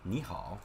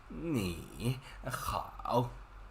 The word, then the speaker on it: 你好: Third tone and third tone. But think about it, it's really hard for human to pronounce this. Like 你好.